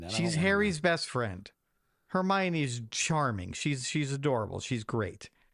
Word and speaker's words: Hermione: It's Hermione. Okay, what is that? Go watch the Harry Potter movies and you'll know. Okay, never mind that. She's Harry's best friend. Hermione's charming.